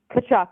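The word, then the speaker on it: Tkachuk: Kachchuck. The T is silent.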